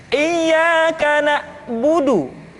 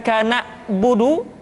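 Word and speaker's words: إياك نعبد: Contoh, iyyaka na'budu, bukan kana budu, tetapi agak ditekan sedikit, kana budu, iyyaka na'budu. Itu pengucapan huruf ain.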